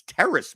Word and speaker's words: Terrace: Terrence Marshall. Terrace? Oh, it's not even, there's no N in that name. It's Terrace Marshall.